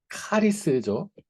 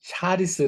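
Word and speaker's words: χάρις: 은혜라는 말의 정의는 원래 이제 어 헬라 라면 카리스 제 여러분 말씀 드렸지만 샤리스 아고 발음을 하기도 한데 카리스 이거는 원래 선물이란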